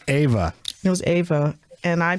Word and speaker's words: Eva: about green acres and whether it was eva or ava ava or john and it was ava it was ava and